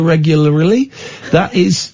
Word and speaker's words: regularly: That's why we brush our teeth so regularly. Regularly. That's the correct way to say it.